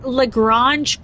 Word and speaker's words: Lagrange: Old Virgin says, Jupiter Lagrange points have loads of asteroids.